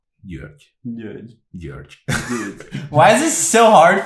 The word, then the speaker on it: György: Georg. György.